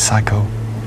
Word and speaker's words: psycho: These are all words that begin with P without pronouncing the P. They Fennig. Are words that begin with a silent P.